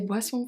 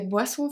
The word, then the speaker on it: boissons: also silent serviette des boissons fraîches des boissons fraîches. Boisson. Boisson. We seen this one. Boisson. The S is silent.